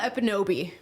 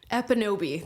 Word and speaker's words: Ekpunobi: So it's Amala Ekpunobi. Ekpunobi. The K is silent in my last name for some odd reason.